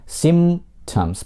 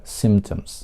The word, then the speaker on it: symptoms: Слово symptoms произносится без звука п, потому что два звука м и п, они губные, по сути, у них одинаковая артикуляция, и очень трудно говорить оба этих звука, поэтому один мы просто убираем symptoms. После M вы произносите звук T, symptoms.